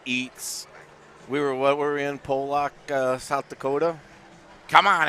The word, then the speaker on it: Pollock: It's Pollock. Pollock. Oh, I thought If it was Pollock, it'd be A, not an O. Oh. It's P-O-L. That's Pollock.